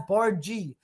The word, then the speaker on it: Bardghj: So, you pronounce it as Bargie.